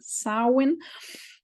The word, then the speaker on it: Samhain: you a little bit about the Festival of sarwin that's what it can be pronounced sauwin um which is uh the ancient third and